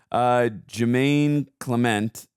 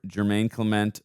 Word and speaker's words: Jemaine Clement: Jemaine Clement. Is that I think that's how you say it. Yeah, that's Jemaine Clement.